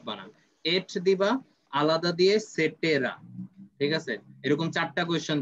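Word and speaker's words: et cetera: ওকে এখানে যেমন ইটিসি ইটিসির পুরো উচ্চারণ কিন্তু সেটেরা তো পরে আসি রেইন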